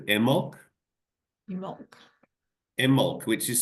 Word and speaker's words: Imbolc: it's called, so in Gaelic Celtic, it's called Imbolc. Imbolc. Imbolc, which is spelled Imbolc, Imbolc, but it's pronounced Imbolc.